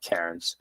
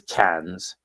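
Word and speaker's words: Cairns: There is an R, but they don't pronounce it. It's not Karen. It is KS.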